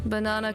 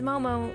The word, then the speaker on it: Momo: I know about you banana cus what no no it's Momo not banana it doesn't even have the right syllable match up but wait how